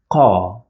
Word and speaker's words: ق: we pronounce it as ca ca you feel like the sound comes from the throat but it is not a throat sound it comes from the back of the mouth cavity car at the back